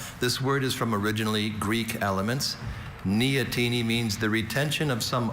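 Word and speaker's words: neoteny: Neotini is N E O T E N Y.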